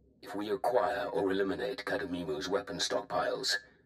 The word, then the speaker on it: Cademimu: I guess it's pronounced Cademimu. Like a cow.